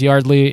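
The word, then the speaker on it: Yeardley: The only reason I know it's pronounced Yardley is because of his podcast.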